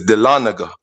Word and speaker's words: Dahlonega: I don't know if you could pull it up on the screen, Gans, and spell it to them again. It's Dahlonega. It's Dahlonega.